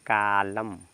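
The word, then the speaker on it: column: देखेंगे इसको क्या पढ़ेंगे यहां पर न साइलेंट हो जाएगा इसको पढ़ेंगे कालम कालम मीस स्तंभ कालम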